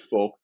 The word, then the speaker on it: Volk: and the German folk Volk with a B pronounced folk they're making that identification